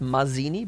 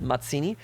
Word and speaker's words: Mazzini: Not Mazzini, but Mazzini.